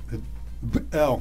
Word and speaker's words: Бел: Так вот, главный бог был, конечно, бог шумеров, который Бел произносится, как выяснили филологи.